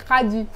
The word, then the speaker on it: Khady: Ouais, Et ça se dit Khady.